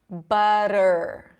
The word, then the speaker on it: butter: And if we're thinking of words with T, activity, butter, butter, right? I'm not saying butter. It's not butter, butter, ra, ra, ra.